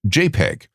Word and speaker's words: JPEG: For example, a graphics program called joint photograph experts group was shortened to JPG and pronounced JPEG.